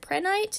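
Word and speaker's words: prehnite: wanting moldavite and then I don't know you pronounce this a friend right so hey pronounce it pret night it's PR e h ni te if I remember correctly but it's so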